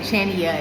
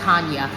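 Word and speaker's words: Chania: I was saying Channia and it's pronounced ha.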